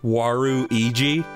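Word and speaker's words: ワルイージ: somebody figured out that in Japan it's pronounced waru EG which means bad person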